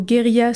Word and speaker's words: guérilla: formés les guérilla girls la prononciation du mot guérilla se rapprochant de celle de Gorilla les jeunes femmes ont